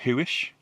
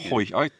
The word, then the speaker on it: Huish: We start off in Huish. Is that how you say it? Huish. Oh, well, that's how I say or it. Hoish. I was calling it Hoish at one point, but it's Huish.